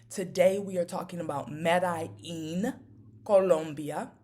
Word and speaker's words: Medellín: we are talking about Medi in Colombia which is the Spanish pronunciation if you are interested in the English pronunciation it's medin colia and if you